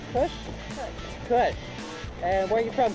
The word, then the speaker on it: Khush: Okay, so today I'm with, is it pronounced Khush? Khush. And where are you from, Khush?